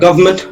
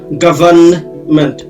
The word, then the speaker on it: government: হ্যাঁ, এই গভর্নমেন্ট শব্দটার দুইটা উচ্চারণ আছে। একটা গভর্নমেন্ট, এনটা একেবারেই অনুচ্চারিত হবে, সাইলেন্ট থাকবে। আরেকটা হচ্ছে গভর্নমেন্ট, এন এর উচ্চারণ আসবে। দুইটাই শুদ্ধ, কোনো সমস্যা নেই, আপনার যেটা মন চায় বলতে পারেন।